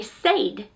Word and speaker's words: said: If you were following the rules, it should say said, but we pronounce it as said, S-E-D, and that's the way most students are going to spell it.